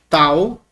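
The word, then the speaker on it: ταῦ: Em português, tal, representa o nosso T, como na palavra ter. Não representa um T como um T chiado, como na palavra tio, tá?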